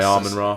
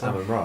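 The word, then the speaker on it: Amenra: I'm gonna say Armin Ra. It's Amen Ra, right? Yeah. Yeah.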